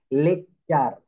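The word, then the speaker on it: lecture: পর কি থাকে ইউ এইটা থাকলে টি এর উচ্চারণ চ এর মত হয়ে যাবে যেমন লেকচার দেখেন এল ই সি টি ইউ আর ই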